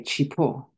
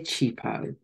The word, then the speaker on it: Chipo: With a Shona accent, I would say Chipo. But I don't pronounce it that way. I say Chipo.